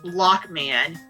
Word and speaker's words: Rockman: I know it's Rockman in Japan. Yeah. Which can hilariously be pronounced as Lockman, as there's no distinction between R and L in Japanese.